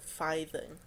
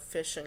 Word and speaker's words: phishing: Also, how did you pronounce it? Fithing. That's possibly the stupidest pronunciation of phishing I've ever heard.